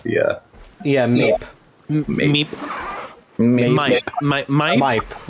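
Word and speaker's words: Maip: It's the Meep. Meep. Mipe, right? Mipe, I believe, is the pronunciation.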